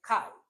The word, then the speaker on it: chi: Uh this is written like ch or is pronounced kai k square test.